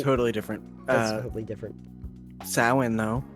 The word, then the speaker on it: Samhain: Samhain, though. Samhain. Yep. Which I think one time I pronounced as Samhain, and everybody gave me a dirty Yeah, look. no. It's written as Samhain. Yeah, It is Samhain.